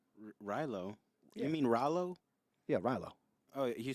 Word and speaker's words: Rallo: I can't remember the my favorite character was rylo rylo I mean Rallo yeah rylo oh you say I thought you